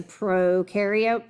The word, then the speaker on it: prokaryote: That bacteria is a prokaryote. Pro rhymes with no.